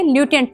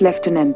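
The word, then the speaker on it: lieutenant: नहीं पता है, तो कई लोग इसे "लाई-टेनेंट" पढ़ेंगे, जो कि सही उच्चारण नहीं है। तो चलिए गूगल असिस्टेंट से पता लगाते हैं। हे गूगल, L-I-E-U-T-E-N-A-N-T का उच्चारण कैसे करते हैं? इसे "लेफ्टिनेंट" पढ़ा जाता है।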